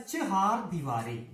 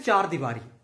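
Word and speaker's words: चहारदीवारी: जबकि चार दीवारी जो है अशुद्ध है, ये होता है चहार दीवारी।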